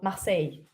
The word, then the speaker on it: Marseille: How do you pronounce Marseille? Well, Marseille.